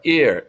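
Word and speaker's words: hay: And the last one is the verb I. I means there is or there are. It's pronounced like your eyeball. I, E-Y-E, but it's spelled H-A-Y.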